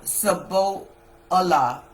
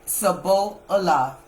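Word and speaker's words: shibboleth: Then said they unto him, "Say now, Sabbo Allah, Sablah." And he said, "Sabo Allah." and for he could not frame to pronounce it right.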